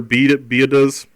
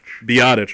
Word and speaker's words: Biadasz: They signed Tyler Biadasz. Is that how you pronounce it Mike? Biadasz. Biadasz, okay, yeah.